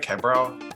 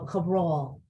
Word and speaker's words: Cabral: is that pronounced right quebro no you got to make it as Italian as possible Cabral Cabral even though my husband's Portuguese I say Cabral I love it yeah